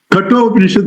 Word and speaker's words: Kathopanishad: Kathopanishad, because there is a story in it, people pronounce it Katho. No, it's not a Katha story.